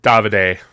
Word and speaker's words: Davide: worked on it, including is it David? Is that how you Davide. Davide? Thank you. I'm like, I don't know how to pronounce this guy's name.